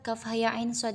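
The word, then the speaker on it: كهيعص: Kaf itu dibacanya enam harakat. Kemudian ha dibaca dua harakat. Kemudian iya dibaca dua harakat. Lalu kemudian ain itu dibaca enam harakat. Kemudian shod dibaca enam harakat. Jadi, pelafalannya seperti ini. Kaf ha ya ain shod.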